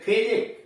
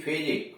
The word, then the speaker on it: physique: करा किसी शब्द में QUE आ गया है तो वहां QUE का उच्चारण क होता है। जैसे MOSQUE, Musk, MOSQUE, Musk, Musk का मतलब मस्जिद। PHYSIQUE, या QUE का मतलब क, जैसे फिजिक, PHYSIQUE, फिजिक, काया।